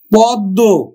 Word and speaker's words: পদ্ম: কিন্তু আমরা কোনটা উচ্চারণ করব? দুইবার উচ্চারণ করব, দটা, পদ্ম।